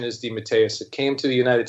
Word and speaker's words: DeMatteis: we weren't on the air the authentic Italian pronunciation is D Mateus it came to the United States it got squashed into de mattes but when I was a kid my father